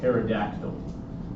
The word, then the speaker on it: pterodactyl: Again, the P is silent just like in ptosis. Pterygium, not a pterygium, just pterygium. So you can think of a pterygium like another word that begins with P that is silent. And we're thinking prehistoric dinosaurs, like pterodactyl.